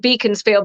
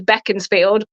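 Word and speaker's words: Beaconsfield: can't beat a uh depends how you pronounce it we call it beaconfield but I think it's beckon field absolute best service station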